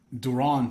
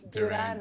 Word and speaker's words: Duran: do you say it well duron sounds really cool but duran used to spanish and then durant but we can go with duron i like that it's okay it has